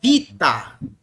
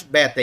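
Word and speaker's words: βήτα: moderno é alfa alfa o Beta no grego moderno é Vita né mais Beta é Vita entendeu então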